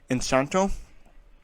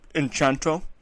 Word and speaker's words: Encanto: Best Animated Feature was Encanto. Or Enchanto, depending on how you pronounce it.